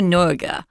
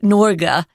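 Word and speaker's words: Norge: the next couple of lessons is truma truma norga uh which norga is the way they say Norway in their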